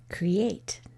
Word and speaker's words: create: Create. There's 2. I hear the E of cree and the A of 8.